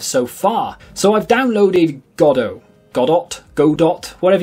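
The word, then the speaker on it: Godot: want to call it I call it godo because there is a play called waiting for godo and it's spelled exactly the same so I feel like that's how it should be said anyway the reason I've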